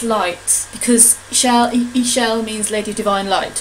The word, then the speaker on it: Ixchel: Ixchel means, I-X, I think it's pronounced E, means goddess or lady, divine feminine goddess, and shell is rainbow.